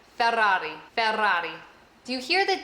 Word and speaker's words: Ferrari: rolling of your Rs, is Ferrari. Ferrari. Because it has the double R in the beginning and the single R at the end. Ferrari.